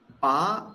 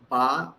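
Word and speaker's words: בא: Ba means came. So here actually, this aleph we are not pronouncing at all because aleph is silent. So just I am pronouncing only the ba here.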